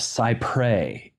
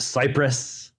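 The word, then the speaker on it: cy-près: a legal Doctrine pronounced cyprey in the United States that is probably not how it's pronounced that is how Americans pronounce it yes um it is not pronounced Cypress uh it is not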